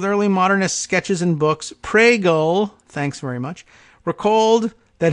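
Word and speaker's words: Pregelj: pronounce it it's pronounced prego PR e GE LJ prego okay there's no G sound at all from the J very difficult to understand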